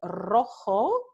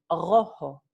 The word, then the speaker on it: rojo: Entonces, en Puerto Rico no se dice rojo, se dice rojo.